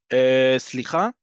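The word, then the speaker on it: סליחה: Slicha, this is a great one because slicha, and you have to say it like that. Repeat after me. Slicha, that's exactly how you say it because slicha can mean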